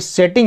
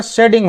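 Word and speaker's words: setting: तो बहुत सारे ऐसे नियम हैं इंग्लिश में, जैसे यहाँ पे भी अभी सेटिंग है ना, वास्तविक उच्चारण का शेडिंग होगा, क्योंकि जब भी टी या डबल टी के पहले और बाद में दो वाउल्स लगे हो ना, तो वहाँ पे टी को डी पढ़ा जाता है।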